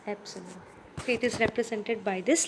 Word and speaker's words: Epsilon: as it's called as Epsilon okay it is not e it is Epsilon its pronunciation is Epsilon it is represented by